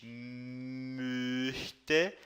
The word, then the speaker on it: möchte: De pronúncia do O com o trema, ich möchte, e sem o trema, ich mochte, tá? Então, com o O com o trema é como se fosse a vaca, né?